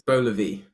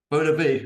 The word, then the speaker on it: Beux Levi: How do you actually say it? It's BEUX LEVI. BEUX LEVI.